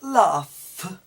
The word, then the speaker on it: laugh: We have high, weigh, weight, height, bought, and all the combinations with it, but laugh. Okay, so try and learn the spellings and the pronunciations together, because unfortunately English has too many